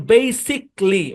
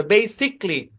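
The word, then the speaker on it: basically: এই বানান যদি থাকে তাহলে আইটা কি এটা সাইলেন্ট এবং এই বরাবর ভাগ হয়ে যাবে। যেমন বেসিকলি মানে এ বরাবর ভাগ হয়ে যাবে। বেসিকলি লজিক লজিক্যালি না লজিকলি প্র্যাক্টিকলি স্পেসিফিকলি অটোমেটিকলি বুঝছেন এটা সাইলেন্ট এবং উচ্চারণটা সিতে গিয়ে থামবে।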